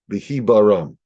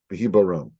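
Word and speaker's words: בהבראם: And if I would use English characters to put down the sounds of these Hebrew letters, it would be BHBRM. And the way to pronounce it is Behibaram. Behibaram.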